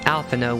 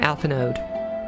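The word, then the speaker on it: Alphinaud: rather challenging it's weird that his name is pronounced alphano when the lad his the last letter and his name is d i used to put out i used to pronounce his name alpha node ethanol but then i heard his name properly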